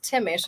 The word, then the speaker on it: Thimmesch: No, it's Thimmesch. There's a lot of silent letters in it.